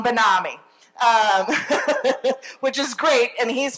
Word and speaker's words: BenAmi: And he wrote back, it's E-L-A-W-N, like, salami. So, but BenAmi instead of salami, which gets me to say it, BenAmi.